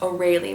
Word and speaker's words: Aurelie: be spelled A-U-R-E-L-I-E and can also be pronounced O'Reilly with that spelling.